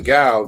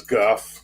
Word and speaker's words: Gough: into kevin got kevin guff i call him kevin gal because it looks like it's pronounced gal but the name is guff okay